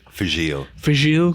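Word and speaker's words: Fèis Ìle: do their own uh is it f ale is how you pronounce it fil fil there we go um for anyone who's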